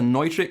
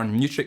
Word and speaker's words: Neutrik: cables is the connectors these are nitric or Neutrik connectors depending on how you want to pronounce them and they're exceptionally robust